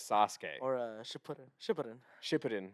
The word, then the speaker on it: Sasuke: people say like or Sasuke it's like suzuk it's like are you literally just need to play one episode and hear how they say his name and then you have his name down like how are you getting Sasuke from literally the first episode where he says Sasuke or a sh Shin